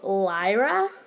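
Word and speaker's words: Liera: new custom that I made, her name is Lyra. It is spelled L-I-E-R-A, and she is a siren.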